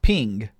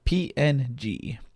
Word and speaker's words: PNG: my guess but I actually don't know it's pronounced ping or PNG it is a compressed raster graphic format so